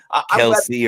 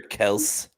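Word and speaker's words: Kelce: where that was uh yeah of course well kelsey or kels yeah right that was the craziest thing i've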